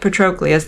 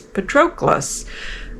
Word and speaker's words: Patroclus: really it sounds I don't I keep She's pronouncing it Patroclus. They read it in class and I'm like it's Patroclus.